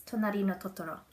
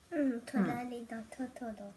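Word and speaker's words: となりのトトロ: It's Tonari no Totoro. Tonari no Totoro.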